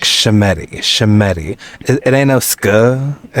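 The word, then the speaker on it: Schemmenti: Shemetti. Is it Shemetti? Shemetti. And truthfully, I am only pronouncing it this well because thank you, Miss Howard.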